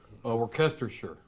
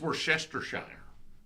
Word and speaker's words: Worcestershire: Worcestershire. Worcestershire. See, if I'm going to try to pronounce that right, if I'm looking at it, I would say it's Worcestershire. Like I would say that WORCE is Worce.